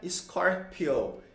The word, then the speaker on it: Scorpio: nem inglês bem gente a pronúncia correta scorpion scorpion ou pessoalzinho tem um sonzinho de ou scorpio eu gosto da vida